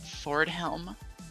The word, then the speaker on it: FRDHLM: username, and fridaywitch, at the request of the man himself, she called him Fordhelm, which was the intended pronunciation, but I feel like that's not actually possible to deduce from the username itself.